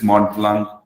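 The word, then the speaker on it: Mont Blanc: uh the pronunciation we the tea is silent but it is mod plunk uh it's a european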